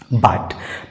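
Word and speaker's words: bought: अंत में आया है जीएसटी अंत में आया तो जीएच जो है शांत रहेगा अर्थात साइलेंट रहेगा इसका सही उच्चारण हो जाएगा बाट बाय का सेकंड और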